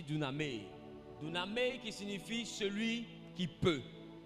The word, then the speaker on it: dunamis: ne savent pas écrire d'une année d'une année s'écrit simplement des u d'accord d u n a M a I d'accord ça se lit d'une amie qui signifie celui qui